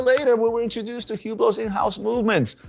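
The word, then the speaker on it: Hublot: Is it Hublo? I really can't get get past the fact that he's pronouncing it Hublau.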